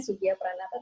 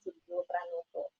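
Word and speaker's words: Soegijapranata: Itu saya kemarin baru berlatih cara pengucapannya, karena tulisannya Sugio Pranata, tapi ternyata dibacanya Sugio Pranoto.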